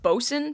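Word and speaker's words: boatswain: spelled ready for this b o a t s w a i n so phonetically it looks like boat Swain it's just another English word that isn't pronounced the way it should be which is a bit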